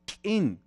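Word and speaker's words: k'in: Fíjense que mi hipótesis es, los que somos mayablantes tzeltal, vamos a decir kin. Kin, con el sonido particular de la lengua tzeltal, significa fiesta.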